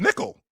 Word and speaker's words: Nickeil: It looks like it's pronounced Nickel. Well, okay, fine. No, but I can't call him that because that's not the way. That's not his name. No, it's Nickeil Alexander-Walker, Jalen Duren, Denny Advija.